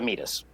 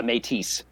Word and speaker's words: métis: Or you're this doesn't come naturally to me because I've always mispronounced it, a métis. Or what I always called a metis. A metis, a metis, a métis is the most proper, I think.